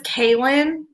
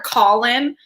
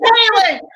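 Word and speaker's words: Kahlan: That's how it was book 3 of the Terry Goodkind series, because her name is Kaylin, but it's spelled a little different. But he called her Colin.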